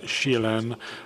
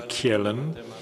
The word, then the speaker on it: Kjellén: In 1879, the concept was first used by Rudolf Kjellén. I think that's how you pronounce the Swedish name Kjellén, in his article about